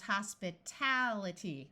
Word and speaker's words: hospitality: the o sound here as soon as we add ity it becomes Hospitality where this syllable is accented here we have a